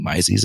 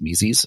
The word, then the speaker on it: Mises: I did have to be corrected because I had been saying Mises a few times, but that's not how it's said. It's Mises. So that's the downside of